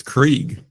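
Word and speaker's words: Cregg: Craig Sherrier, which Craig spelled with a C. R-E-G-G. That's not. Oh. Yikes. Because that's got to be pronounced Craig, right? Yeah, for sure. Yeah, so interesting way to spell Craig, unless it's Krieg. But that'd be extremely off.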